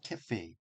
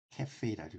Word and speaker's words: cafe: 자, I run a 카페가 아니라 캐, 캐페입니다. I run a cafe. 캐페라고 읽어요. 캐페. 우리 카페라고 쓰지만은 실제로 영어로는 캐페라고 읽습니다.